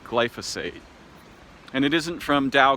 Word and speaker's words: glyphosate: mispronounced glice if a I think it's actually pronounced glyphosate and it isn't from